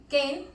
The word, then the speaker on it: Cen: como las leemos, y tal es el caso del apellido Ken, que aunque se escribe Sen, pues se pronuncia diferente.